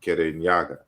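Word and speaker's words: Kirinyaga: our people pronounce it it sounded to the Europeans like Kenya so in a geography books it is Kenya but we still call it kerenyaga so Kennedy or Kenya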